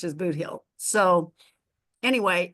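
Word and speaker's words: Bootheel: look at the map but the way it's pronounced as booill so anyway it's named after that but it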